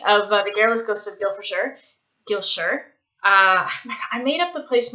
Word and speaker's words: Gilshire: That's one of the running jokes in the book, is that it looks like it's spelled Gwilfifeshire, but it's pronounced Gilshire.